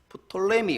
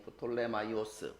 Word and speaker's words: 프톨레마이오스: 왕조는 톨 mio 어스 프톨레미 우리는 이제 우리는 제 역사 시간에 세계사 시간에 프톨레미 이렇게 배웠는데요 뭐 정확한 명칭이 프톨레마이오스 발음도 잘 안돼 이제 왕조 이 거야